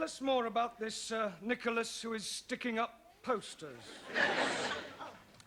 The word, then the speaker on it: Nicholas: upon a times there was a man called nickel ass it's not quite right no once upon a time there was a woman called nickel ass it's pronounced Nicholas all right once upon a time there was